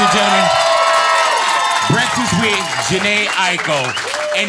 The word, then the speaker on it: Aiko: I used to say Aiko, like 3 syllables. And then a Japanese person told me it's Aiko. So it's like how people say Tokyo. Yes. But a Japanese person would say Tokyo as 2 syllables.